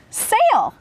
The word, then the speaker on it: sail: we have the word sail when two vowels go walking the first one does the talking and the second one is silent so it reads sail